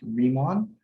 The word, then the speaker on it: Riemann: their name it's pronounced riemann it's a falling diphthong i think it's the linguistics term for the e sound ring on um and